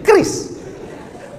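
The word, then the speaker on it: QRIS: Q ris cara bacanya gimana sebetulnya? Kris.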